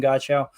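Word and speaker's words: Godchaux: we appreciate y'all uh Devon Goda I think is how you say it some people say Davin Goda um with the Patriots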